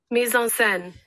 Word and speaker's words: mise en scène: I need them to give me the pronunciation. Okay, so I found the word. Hold on. Okay. Mise en scène.